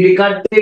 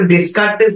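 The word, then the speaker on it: Descartes: 1619 তো এই কনসেপ্টটা আমার দিয়ে গেছিল রেনে ডেকার্তে ইন দা ইয়ার 1619 এই হোল কনসেপ্টটা আমায় আমাদের হাতে দিয়ে গেছিল তো তার নাম অনুসারে এই ডেকার ঠিক আছে এই উচ্চারণটা ডেসকার্টেস না ডেকারতে তো ডি এই এস এর উচ্চারণটা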